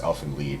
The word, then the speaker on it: Elfen Lied: What have you seen Alvin Lad? Elfen Lied. Or whatever it is. Yeah. It's supposed to be German, right? So it's pronounced Elfen Lied, and yes, I have seen it.